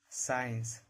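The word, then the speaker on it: science: जब भी सी के पहले एस रहेगा तो सी साइलेंट रहेगा। साइंस मसल सीन यानी सी का उच्चारण नहीं करना है।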